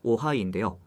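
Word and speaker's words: Ojai: 영어로 오하이인데요. 캘리포니아에 있는 도시 이름이에요. 발음이 오하이라서 고객이 탑승하면 오하이 오님 하고 인사한다는 거예요.이 차량은 중국 지커라는 회사가 만들었어요.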